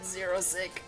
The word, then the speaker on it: Xerosic: And when you say it like a Xerosic apostrophe S, it sounds like you're just saying 06, which I'm pretty sure is kind of like supposed to be the joke of his name.